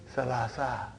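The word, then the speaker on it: ثلاثة: So that is why you have salasatun. But in pronunciation we will say salasa.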